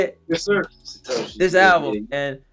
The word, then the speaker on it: Satoshis: Satoshis.